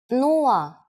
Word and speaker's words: Нула: It's similar to one of the versions of zero in English, but with a different pronunciation. Нула.